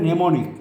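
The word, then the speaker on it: mnemonic: মেমারি হলে নেমোনিক, এমটা উচ্চারণ হবে না।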